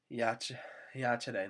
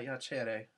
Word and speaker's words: iacere: Iacere, notice a short E family, it's not iacere, long E family.